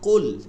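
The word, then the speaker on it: قُلْ: খেয়াল থাকে না এখানে প্রথম শব্দটা কুল এটার উচ্চারণের ক্ষেত্রে কি কি করতে হবে ভারী রাখতে হবে না হলে কিন্তু অর্থ চেঞ্জ হয়ে যাবে কুল অর্থ বলুন হ্যাঁ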